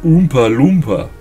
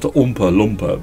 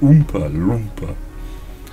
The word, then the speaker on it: Oompa Loompa: lumpers on the bra well as it's properly pronounced Oompa Loompa not Oompa LPA but Oompa Loompa yeah not spelled the way I thought it